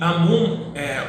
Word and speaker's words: Amun: E Amun, ou Amen ou Amon, aí fica a critério de como vocês queiram pronunciar, tá? Todas as pronúncias aí estão corretas.